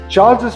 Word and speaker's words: Charles's: Listen to the pronunciation. Charles's presentation was well received.